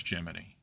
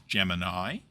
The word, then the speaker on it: Gemini: Now, a note on pronunciation. If you're like me, you desperately want to pronounce the name of this program as Gemini, but the NASA history is quite explicit that the project itself used the pronunciation Gemini. And so that is what I am going to attempt to do, although I cannot guarantee that the odd Gemini might slip out.